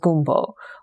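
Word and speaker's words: gombo: Something like okra, where the doctor explains that the French word for okra is G-O-M-B-O, pronounced gumbo, which, if you think of it, it's like the dish that we associate with New Orleans here in America, right?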